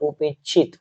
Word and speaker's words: उपेक्षित: पढ उपित उप इच्छित तो आपको जब दो बार तीन बार पढ़िए लगातार उपेक्षित उपेक्षित तो यह उपेक्षित का उच्चारण होगा हो गया उपग आगे